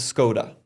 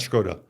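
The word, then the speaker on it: Škoda: Republic people would laugh so the vernacular for the Czech car company in the US is scoda that yeah so you have to say scod yeah and not shot yeah because if I say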